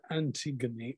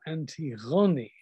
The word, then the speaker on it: Antigone: And there is none more unfortunate, though she herself was, I think, quite heroic, than Antigone, or Antigone, as she's pronounced in modern Greek.